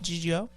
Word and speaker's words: Gigio: Gigio. G-I is G.